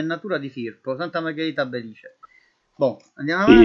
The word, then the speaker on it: Belice: Vastè della Valle del Belice, famosissima questa qua, vedi, con l'accento sulla I.